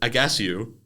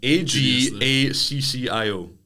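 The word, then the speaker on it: Ajaccio: It's Toulon to Monaco B to Agasio to Monaco. Agasio? What the fuck's that? It's a French team. I feel like the pronunciation's a bit... Agaccio.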